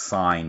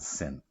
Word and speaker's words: sine: to write this now it is pronounced sign here not sin I'd like you to